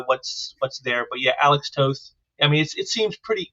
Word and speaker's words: Toth: Toth? Is there anything else that you want to do? And by the way, it is Alan Toth.